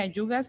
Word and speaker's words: ajugas: podemos poner las ayugas, se pronuncia ayugas, pero se escribe ajugas en español, las hostas, las eucheras